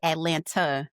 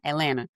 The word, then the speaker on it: Atlanta: And here in Atlanta, Atlanta, like you see, we don't say Atlanta, that's three syllables. We say one Atlanta.